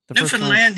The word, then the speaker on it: Newfoundland: So, Ken, did I pronounce Newfoundland correctly? Newfoundland, yes, sir.